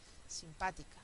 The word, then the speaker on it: simpática: final Entonces como ejemplo tiene simpática sí uno dos tres inédito un dos tres